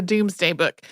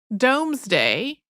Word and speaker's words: Domesday Book: project yeah so the Doomsday Book which uh looks like it should be pronounced domesday but is not uh if you're like